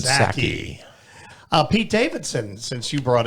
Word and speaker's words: Psaki: Besides his long-standing love affair with Jen, the P is silent, Psaki.